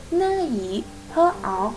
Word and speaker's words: 你好: Okay, the 你 that is 呢以. What about 好? That is 喝熬. So 呢以喝熬, that is the pinyin.